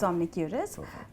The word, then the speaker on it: Omnicuris: Am I pronouncing it right? Yes, it's Omnicuris.